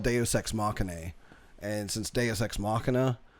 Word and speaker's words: Machinae: It's spelled like it looks like Machinae. Some people have said it's just machine. You just pronounce it as machine. Some people say Machinae.